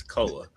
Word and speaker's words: Koa: It's Koa. Is it Koa? What did I say? Koi Peaks? Like he's a fish. Because it looks like koi. It looks more like koi than koa.